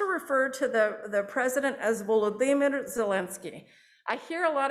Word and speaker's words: Volodymyr: And so I also hear people say Volodymyr, which makes him sound a little bit like Voldemort. So I would say Volodymyr. So if you can put that accent on the D, then you'll be a little bit closer.